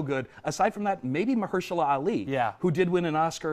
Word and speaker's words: Mahershala Ali: I can never pronounce Mahershala Ali. Mahershala Ali.